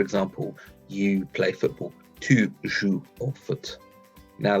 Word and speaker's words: joues: So, for example, you play football, tu joues au foot. Now, that tu joues there, that joue is pronounced the same way as je joue, but actually look at the spelling, tu joues es.